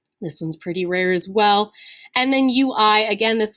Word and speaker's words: oui: this in french pronunciations like the word we in french is spelled oui so it's got that